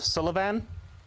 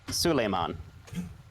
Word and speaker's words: Suleiman: mispronounced uh mispronounced it it's not the dust of sullivan it's the dust of suleiman which is an occult